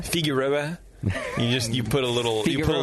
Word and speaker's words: Figueroa: the program with us is that how you pronounce it I guess how do you say it how how did you say it figuroa figuroa you just you put a little you put